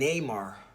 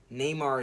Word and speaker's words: Narmer: Egypt was founded in 3400 or 3200 BC by a guy named Neymar or Menses. Neymar is spelled Narmer.